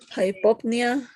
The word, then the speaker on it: hypopnea: Hypopnea, pronouncing an open O for understanding that it's O.